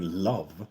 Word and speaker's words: Love: For example, my name, Love, is pronounced in Swedish, Love.